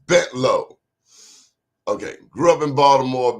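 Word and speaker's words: Bentalou: Not Bentaloo, that a lot of those new television people, the way they pronounce it, it's Bentlow.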